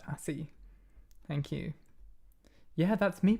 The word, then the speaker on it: ASCII: I now know that it's pronounced ASCII.